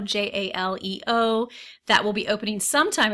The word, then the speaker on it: Jaleo: There's also a restaurant, I believe it's pronounced Jaleo, Jaleo, that will be opening sometime in 2018 where Portobello's has been located.